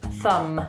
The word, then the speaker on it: thumb: It's not thumb, it's thumb, just thumb. So remember to put your tongue out a little bit when you say TH.